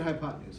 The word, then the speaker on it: hypotenuse: do you know the name of this one it's hypo 10 use is the way it's spelled but you say it hypotenuse everybody say hypotenuse okay